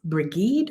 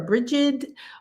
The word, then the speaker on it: Brigid: And the goddess, the Celtic goddess Brigid or Brigid, or many other Bridie, or many other pronunciations of her beautiful essence, is the primary sacred feminine energy.